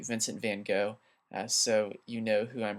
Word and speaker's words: Vincent van Gogh: His name is Vincent van Gogh. The correct way to actually say his name is Vincent van Gogh, but if you say that, people might not know.